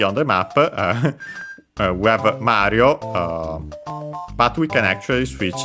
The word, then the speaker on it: マリオ: So actually, that should be the case technically also for Mario, but yeah, in Japanese it isn't. It becomes simply Mario, while Luigi it's kept.